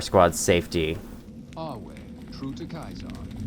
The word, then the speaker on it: Caesar: If people pronounce it Caesar, they're not on his side. If they pronounce it Kaisar, they are on his side cuz it's the true way.